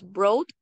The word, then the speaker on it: broad: En cuanto a la pronunciación de broad, esta unión de la O y la A se va a pronunciar como O. Entonces tenemos broad sheet.